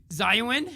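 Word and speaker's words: Xiaonan: Yeah, X is silent in Chinese. Zayuan?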